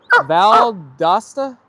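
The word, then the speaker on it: Valdosta: They pronounce Vald Dosta as Valdasta.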